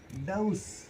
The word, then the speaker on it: dose: अपन कहते हैं 2 डोज ले लेना, डोज नहीं होता है, दैट इज डाउस, 2 डाउस ले लेना।